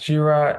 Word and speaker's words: Jira: I'm Jira, actually it's pronounced Jira, and yeah, my connection to